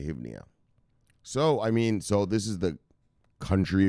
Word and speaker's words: hryvnia: Is it Hryvnia? How do you say that? Hryvnia. We're just going to say Hryvnia.